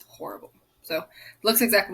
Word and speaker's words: horrible: or coffee because it's horrible so looks exactly like it does in english you just don't pronounce the h of course in spanish but he says it's